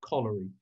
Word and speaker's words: Coleridge: william de tracy coleridge although it's spelt like samuel taylor coverage actually is referring to collary it's actually referring to coal and that part of